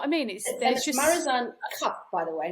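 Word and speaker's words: Marizanne Kapp: So because a lot of people, some people call it Cappy, but it's actually Marizan Cup, because it's the Afrikaans pronounces A that way. It doesn't pronounce it as Cap.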